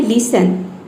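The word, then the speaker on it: listen: Next है लिसन, लिसन में देखिए टी के बाद क्या आया है, ई एन आया है, लिसन, इसमें टी जो है वह साइलेंट है।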